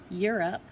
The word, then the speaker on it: Europe: Europe is an oddball because it is supposed to follow the pattern of a long O here, because you have your vowel consonant E, which should make the O say O, but when you say Europe, you're almost hearing that U sound.